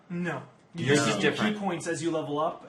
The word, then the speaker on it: Ki: it is Ki it's key for some reason the name of it so it's pronounced key because they're two yeah